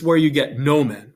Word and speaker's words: nomen: it's the o sound note the short o sounds like the o in obvious it's an uh sound so it's the difference between note and obvious in latin it would be the difference between no men and omnis right they're making two different sounds again now we have